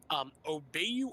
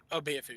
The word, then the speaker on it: Obeyafu: Wait, it's pronounced Obeyu. Obeyafu, yeah. The letter O, B, A, Y, I, F, O. I was just wondering because you pronounced it Obeyu, and it's... Yeah, sorry. Mind you, South African does not actually have a letter F. It's just the closest we have to a translation in English.